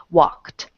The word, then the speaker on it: walked: and unvoiced sounds if the sound at the end of a letter is unvoiced you're going to add a t sound to the ending for e d okay so walked Okay then if the